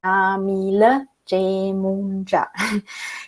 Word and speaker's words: Yamile Yemoonyah: But before we get started with all of that, my name is Yamile Yemoonyah. That's how you pronounce my name, Yamile Yemoonyah.